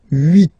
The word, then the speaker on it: huit: Then here, final T is pronounced. So huit, huit.